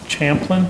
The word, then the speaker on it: Champlin: Right, and this one is Champlin? Champlin, which No, is. no, yeah. Champlain. Oh, there you go. Champlin, Yeah. thank you. How do you spell it? CHAMPLIN. Missing the A in Champlain.